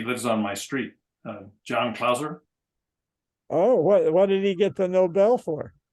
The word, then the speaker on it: Clauser: Kauser, what's his name? Clauser. Spell it.